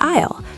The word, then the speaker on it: aisle: There are three types of seats on a plane: window, middle, and aisle.